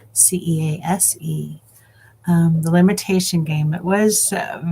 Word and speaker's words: Cease: I've learned that is how his name is pronounced, Cease.